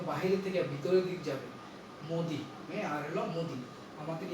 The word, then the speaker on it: মোদী: তাইলে মোদী উচ্চারণ হলো মোদী আর হলো মুদি। এই মুদি এটা হলো দুইটা ঠোঁট গোলাকার হবে, আর এটা ঠোঁট খোলা গোলাকার হবে না, বরং বিবৃত হবে, অর্থাৎ বাতাস যেন বাইরে